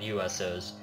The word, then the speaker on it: USOs: He had a diet of tougher foods than other ancestors, nuts, seeds, and USOs, which rhymes with UFOs, which are what abducted Tim Allen.